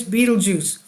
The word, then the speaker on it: Betelgeuse: chance for astronomers to gather critical information about Beetle Goose pronounced like Tim Burton character Beetle juu okay I've been saying it wrong it's Beetle Juice that could help scientists understand the birth of